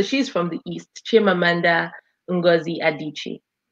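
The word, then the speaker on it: Adichie: name again because I'm sure going piure the pronunciation Shanda so it's an EO name so she's from the East chandi adichi adichi see wasn't that hard excellent and we we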